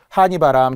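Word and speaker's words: 하늬바람: 한이바람. 서쪽에서 부는 바람. 한이 바람 계절로 말한다면은 가을이에요. 여름 하 아니에요. 그리고 달려라. 한이 아니에요. 다시 한번 하느의이라고 표기하고 발음은 한니. 자플러스의 이로 발음해야 되거든요.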